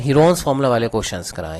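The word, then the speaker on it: Heron's: तो हीरोन्स formula जो है, इसका जो प्रोनाउंसिएशन है, बेसिक प्रोनाउंसिएशन वो हीरोन्स है, ऐसे ही है. हीरो फार्मूला नहीं बोलते इसको, कई स्टूडेंट हीरो फार्मूला बोलते हैं. हीरो नहीं है वो, हीरोन्स है ना.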